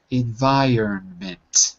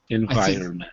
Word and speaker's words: environment: But as you can see in the IPA symbols, it's in, and then the syllable that's stressed, vi, and they say run, ment. But when we say it fast, the R is kind of skipped over. Environment.